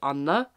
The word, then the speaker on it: Anne: In Norway, it's really normal to write your name with an E if your name is Anne, and we would say Anna, which is like completely different pronunciation.